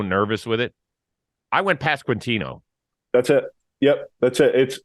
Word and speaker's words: Pasquantino: But it's just Pasquantino, just how it sounds or how it's spelled. So the way they have it on Baseball Reference, they have the pronunciation. Yeah. We're good with Pasquantino.